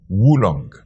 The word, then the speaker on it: oolong: It's as if you're pronouncing as wu woolong.